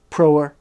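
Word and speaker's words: Proerna: disarmed and sent to Demetrius he next took prera and its surrounding strongholds that's spelled p r o e r n a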